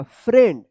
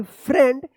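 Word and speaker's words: friend: हम लोग का कि ई आई होगा तो ई उच्चारण होगा लेकिन यहां पे ए उच्चारण होगा फ्रेंड एफ आर आई ई एन डी फ्रेंड इसको याद रखिएगा एस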